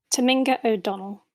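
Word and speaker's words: Tominga O'Donnell: could you please pronounce your name correctly for me Taminga o' Donnell currently you work at the is I always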